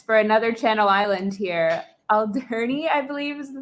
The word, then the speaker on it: Alderney: Alderney, I believe is the pronunciation. Alderney, yeah, Alderney.